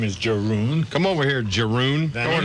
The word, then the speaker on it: Jeroen: Jeroen. I think they pronounce it over here like Jerome, something like Jerome?